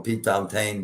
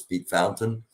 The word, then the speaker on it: Pete Fountain: people were thinking um p fountain is uh or p fountain depending on how it's pronounced and and whether you're from the north or the south if the from the south is p fountain if you're from the north it's pete fountain um irma thomas doug